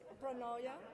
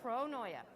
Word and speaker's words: pronoia: I want to make sure I pronounce the word properly. Yeah. Pronoia, Pronoia.